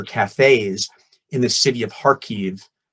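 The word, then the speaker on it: Kharkiv: in the city of harkive sounds like car key but it's pronounced Harkey to help them get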